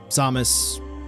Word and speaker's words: Samus: so samus but uh do keep in mind samus correct pronunciation so i'm gonna slip up throughout all